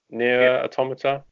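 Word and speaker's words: NieR: Automata: I've done a hoe pronounced I think it's near automata Nier automata yes yasss quick game and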